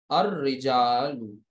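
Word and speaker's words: الرجال: है में नहीं है, लिहाजा यहाँ पर लाम को प्रोनाउंस नहीं करेंगे, और ये कुछ इस तरीके से बनेगा, अर रिजालू, अर रिजालू, यानी यहाँ पर अब आपका ये जो लाम है it will not be pronounced, ये पढ़ा नहीं जाएगा।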